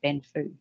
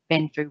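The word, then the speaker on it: 奔富: chinese and mandarin speakers they say something closer to benfu and the character mark the chinese character mark is pronounced as benfu when they read it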